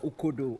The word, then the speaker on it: ukodo: Is it okodo or ukodo or okodo? Yeah. U-K-O-N-D-O. Okodo. Yes. Okodo. Okay, yeah. So yeah, my director is telling me right now that it's pronounced as ukodo.